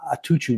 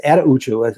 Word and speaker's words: Attaochu: They keep calling him Atuchu now or something, and it's Attaochu. I'm pretty sure is the correct pronunciation.